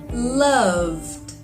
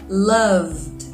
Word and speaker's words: loved: like d cold cold loved love vibrates in your throat so the D sounds like d loved loved now the second